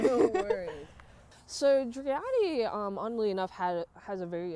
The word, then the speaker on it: Driade: Am I pronouncing? dri-AH-di. Driade. I apologize. I'm not great at pronunciation. No worries. So dri-AH-di, oddly enough, has a very interesting history.